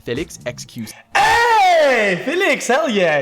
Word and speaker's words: Felix: Hey, Felix, hell yeah. He said Felix, yeah. That's how you say my name.